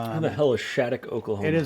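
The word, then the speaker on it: Shattuck: It's spelled S H A T T U C K. When I think of Shhat, I think S H A D O C K.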